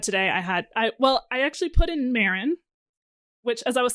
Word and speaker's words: Marin: That's not how you pronounce this. So, Marin.